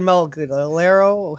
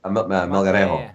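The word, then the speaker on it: Melgarejo: And remember that kid Malgalero? How do you pronounce his name? Malgalero, Paraguayan, I think it was. Remember him? Malgarejo.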